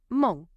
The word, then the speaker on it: mon: And it rhymes with the word for good, bon. So it's got that nasal sound on the end of it. So it's not a mon, but it's mon.